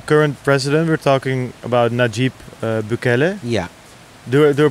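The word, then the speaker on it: Nayib: talking about the current president we're talking about najib yeah do you pronounce it correct yes it's correct okay yeah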